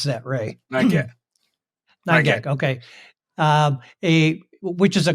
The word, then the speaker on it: 9GAG: How do you pronounce that, Ray? 9GAG.